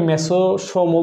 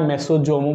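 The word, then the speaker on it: mesosome: এটাকে মেসোসোমও বলা যায় মেসোজোমও বলা যায় এস এর উচ্চারণ অনেক সময় ছ এর মত হয় অনেক সময় জ এর মত হয় আমেরিকানরা এক ধরনের উচ্চারণ করে ব্রিটিশরা অন্য ধরনের উচ্চারণ করে সো মেসোসোম আর মেসোজোম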